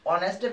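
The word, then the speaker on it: honest: ওয়ানেস্ট, অনেস্টের first লেটারটা এইচ থাকার কারণে এখানে দেখা যাচ্ছে ওয়ানেস্টের যে এইচ, এই এইচ এর উচ্চারণ আসতেছে না, এখানে প্রোনাউন্স করা হচ্ছে ও থেকে অনেস্ট, এইচ এর উচ্চারণ সাইলেন্ট রয়েছে, যার কারণে এখানে হবে অ্যান।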